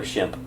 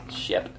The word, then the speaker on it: Shemp: Is it Shep or Shemp? Shemp. Roger was right.